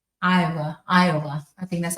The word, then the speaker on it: Iowa: So the answer is Nebraska, B is Kentucky, C is Maine, D is Iowa. Is that how you say it? Iowa? Iowa.